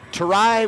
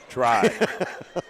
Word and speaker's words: Tarai: So it's Tarai with 1 syllable, Scotty. That's Tarai. Officially. Okay, that's Try.